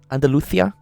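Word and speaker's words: Andalucía: Andaluthia.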